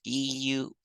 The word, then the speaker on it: Euler: call it e after Euler we spell Euler e-u-l-e-r and we pronounce it Euler gray mathematician and I suggest